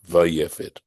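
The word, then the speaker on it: ויפת: That even in the word, right, this particular word, you pronounce when you say it, you say vai barishono, vayefet. Mishum dehushem, because it's a noun.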